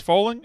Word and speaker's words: Foaling: It's Foaling. It rhymes with bowling.